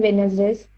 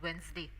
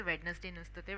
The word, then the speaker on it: Wednesday: Uh it's the pronunciation the actual pronunciation of that word is Wednesday. Okay. Witness day. Witness day. Again it's very Indian pronunciation. Uh D is silent in that.